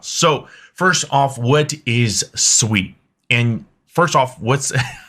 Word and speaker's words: Sui: And first off, how's it pronounced? It is SUI. It is not SUI. I've been corrected multiple times. So if you want to be on the better half of the SUI community, just pronounce it SUI.